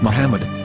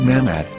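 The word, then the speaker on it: מחמד: a after the H according to Ben yehuda's Hebrew English dictionary it is correctly pronounced as Muhammad not mammad so how we're going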